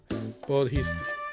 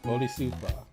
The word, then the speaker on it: Bodhisattva: Is an East Asian Bodhisattva. I need some pronunciations here, so I just need some pronunciations here.